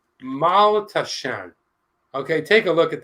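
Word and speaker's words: Maultaschen: It is pronounced Maltaschen.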